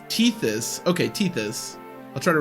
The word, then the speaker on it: Tethys: Teeth this, you casual. Oh, Tethys.